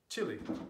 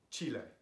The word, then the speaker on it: Chile: Bari and Mexico and in English we say Chile not Chile so this pronunciation can